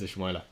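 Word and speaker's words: Ismaïla: Ismaila. Yeah, it is Ismaila.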